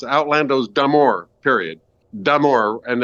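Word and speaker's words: d'Amour: Damour. And it's I usually hear it as deamore, which there's d apostrophe, which means it's damor regard.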